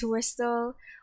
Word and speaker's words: WSDL: SOAP for Simple Object Access Protocol, Wsdl, I pronounce it as Wsdl, Web Service Definition Language, REST for Representational State